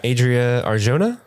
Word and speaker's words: Adria Arjona: love Bix Colleen what's the actress's name uh Adria Arjona yes I hope I'm pronouncing that right that is correct uh however